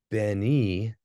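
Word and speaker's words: בְּנִי: And that would be pronounced A, like they. When you ever you have that at the end of a word, like Beni would be my son. Bene, same spelling, different pronunciation, is son of.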